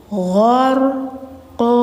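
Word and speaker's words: غرقا: Nah, qo ini harus panjang, Teman-teman, meskipun posisinya di akhir kalimat. Kenapa? Karena harakatnya tanwin fathah. Jadi ketika harakat akhirnya tanwin fathah yang double gini, maka jangan dimatiin ya hurufnya, tapi dipanjangkan. Jadi bacanya gar qo dua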